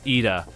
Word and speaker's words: Ida: So it's Ida. Ida. Just pronounce the E instead of like whatever I there is.